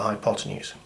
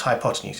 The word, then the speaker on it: hypotenuse: And I think that's why people find Pythagoras' theorem scary and tricky, because that word's got all of 3 syllables and some funny Greek spelling. 4 syllables, good job counting that.